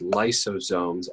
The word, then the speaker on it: lysosomes: exported to somewhere else in the body that's pronounced lysosomes l-y-s-o-s-o-m-e-s i always think of these as a